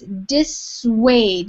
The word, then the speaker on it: dissuade: how to pronounce it it's dissuade so this actually kind of has like a W sound it sounds like you would say weighed like dissuade and that means when